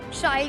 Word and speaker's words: Shail: So as you just said, it rhymes with style।